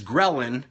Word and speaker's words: ghrelin: It also impedes ghrelin, which is spelled Grelin, which is the antithesis or the opposite from the cortisol.